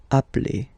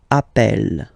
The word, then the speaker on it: appelle: So when you get this a vowel and then you get a double consonant, and well, they are the same, then it does change the pronunciation of a.